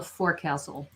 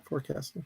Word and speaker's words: forecastle: Yeah, the front, I believe, is called a forecastle. Forecastle. Or a forecastle, I think, is the correct pronunciation.